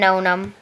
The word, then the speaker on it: No Name: Hey guys, I'm Nonum. If you spell it down, it's spelled weird. It's spelled N O space N A M E.